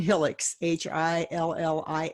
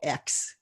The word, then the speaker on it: Hillix: It's Hillix, Hillix. And it's Awesome. just pronounced just like it's spelled, Hillix.